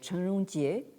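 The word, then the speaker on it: 陳榮捷: Si on le prononce donc en chinois standard, donc ce serait Chen Rongjie, et qui est né en 1901 et mort en 1994.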